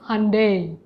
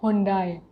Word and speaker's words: Hyundai: that you are saying the correct correct pronunciation it is hyundai it's not hyundai but because 90 percent